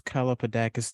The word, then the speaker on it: Kalapodakis: Kalapodakis.